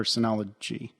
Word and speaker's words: Synology: talk about anies or Synology is that how yeah it's CU it's pronounced like Synergy but with ology at the end Synology yes yeah you